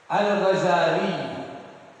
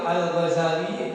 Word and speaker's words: Al-Ghazali: Di sini dikatakan oleh Syekh Nawawi Al-Ghazali, bacanya boleh pakai tasydid, boleh tidak? Al-Ghazali atau Al-Ghazali bitakhfif zai wa tasydidih, dengan meringankan zai. Al-Ghazali wa tasdidiha, dan dengan mentasdidkan zai.